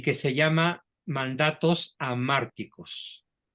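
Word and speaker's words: hamárticos: que se llama mandatos amárticos se escribe con h a márticos y la palabra a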